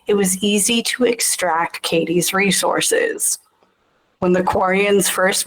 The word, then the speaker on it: Kaddi: Uh I couldn't think of a planet card that fit for Kelly, so I went with Kaddi, a planet that starts with the letter K and it sounds like Kaddi, Kaddi, Kelly, along the same lines.